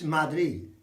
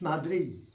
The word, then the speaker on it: Madrid: So Madrid isn't Madrid in Spanish, it's Madrid. It's Madrid. That's important because of the pronunciation.